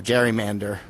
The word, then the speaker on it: gerrymander: It's spelled Gerry, mander, M-A-N-D-E-R. So it's like Jerry, like a man's name, and then mander, gerrymander.